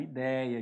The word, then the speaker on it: ideia: exemplo vamos pegar a ideia aqui e Vamos separar silabicamente a palavra ideia ó i dei a então a sílaba tônica é Dei essa palavra Então ela